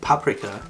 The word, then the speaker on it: paprika: She already pronounces it the German way, paprika.